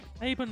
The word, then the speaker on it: Avon: And let's continue on, because that is Avon. Or Avon. Avon is how it's pronounced.